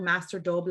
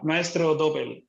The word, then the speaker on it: Maestro Doble: Are you really the ambassador of Mexican tequila called Master Doble? Or did you pronounce that? Did I say that right? Maestro, sí. Yeah, Maestro Doble.